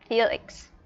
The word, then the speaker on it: Felix: Nhưng mà tên của bạn ấy viết chính xác là F E L I N N X nhá, Felix.